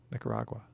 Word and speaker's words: Nicaragua: Nicaragua. Like agua.